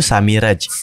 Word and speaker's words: Samiraz: Jadi bacanya itu Samiraj. Samiraj. Oh, ini soalnya Z. Jadi saya bacanya Samiraj.